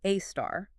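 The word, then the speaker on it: A*: Yeah, pronounced AAR.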